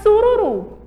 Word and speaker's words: sururu: Agora, sururu. Sururu. Esse ru aí, ó, é uma palavra oxítona. Olha, a sílaba tônica é a última e ele vai receber a letrinha U, certo?